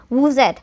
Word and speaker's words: vous êtes: तो vous êtes, so you will pronounce it as vous êtes.